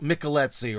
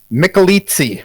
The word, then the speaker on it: Michelizzi: And I do believe your last name is pronounced Michelezzi, right? Or wrong? Michelizzi. Michelizzi. Okay, I must have misled you. Italian. It's like pizza. Like pizza.